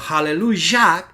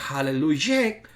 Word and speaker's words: aleluya: Por lo tanto, aleluya está acentuada en la última sílaba, no puede ser aleluya porque una shevat no puede llevar la sílaba acentuada y tiene que ser cambiada a una segol, es decir, una E corta, o tiene que ser cambiada a una kamak, es decir, una A larga.